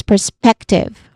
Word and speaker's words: perspective: Third syllable is tiv. Tiv. Very simple with it has a short e vowel sound tense with the letter v sound which is a voiced sound. Again this word is perspective.